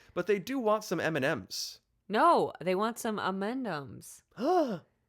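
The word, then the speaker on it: M&M's: The emphasis is not on any of the M's, but on the and, or the ampersand. Part of the statement reads, the ideal pronunciation of our brand name is such that it sounds sort of like the personal name Amanda, but with an MS affixated to the end of it, thus M&Ms.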